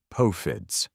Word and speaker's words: POFDS: POFDS, pronounced poe-fids.